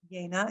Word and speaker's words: Jena: It's pronounced Jena in German, during the 1920s.